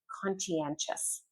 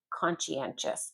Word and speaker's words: conscientious: This is one because the spelling doesn't really match the pronunciation very much. Conscientious. Conscientious.